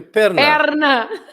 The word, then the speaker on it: perna: for leg, you have an extra letter. P-E-R-N-A. And then on this first syllable, you open the E, and Perna.